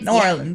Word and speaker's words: New Orleans: You can pronounce it for me. Always forget. It's New Orleans.